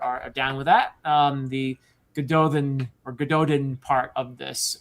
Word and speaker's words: Gododdin: to they pronounce it Gododdin, but really in Welsh which is where it comes from it's Gododdin, but we'll we'll just say it like it's pronounced in the books, Gododdin.